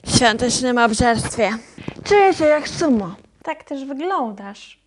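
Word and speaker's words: sumō: obżarstwie czuję się jak sumo tak też wyglądasz podobno sum prawidłowa japońska wymowa to o na końcu jest przedłużone jaon dosłownie narodowa sztuka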